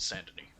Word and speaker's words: Saint-Denis: I don't know why I pronounce it San, it's Saint, but Saint-Denis.